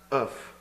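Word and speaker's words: œuf: I was told eggs is pronounced oof.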